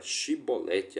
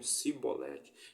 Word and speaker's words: chibolete: os filhos de Efraim eles não conseguiam pronunciar a palavra chibolete a palavra chib Lete eles diziam sibolete então aquele que era